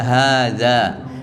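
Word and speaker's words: هذا: pendek pendek bacanya Ya tulisannya pendek tetap untuk hadza dibaca panjang meskipun tulisannya pendek jadi bicnya wzal Balad asalnya adalah hadza hadza han-nya panjang Danya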